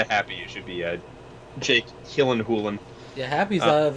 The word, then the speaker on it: Jake Gyllenhaal: Jake Gyllenhaal. That's how you actually pronounce his name, apparently. That's I remember that in like an interview he had, where he's like, "It's actually pronounced Jake Gyllenhaal."